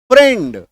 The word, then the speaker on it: friend: एक एक्सेप्शन है, अपवाद है, दैट इज FRIEND फ्रेंड।